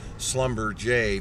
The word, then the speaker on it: Schlumberger: It's actually spelled Schlumberger, but they've got some kind of fancy French pronunciation going on here with Schlumberger for the pronunciation there.